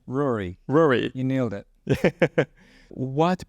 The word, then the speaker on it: Ruairi: with Rory Rory right how how do you pronounce her name Rory Rory you nailed it what brought you to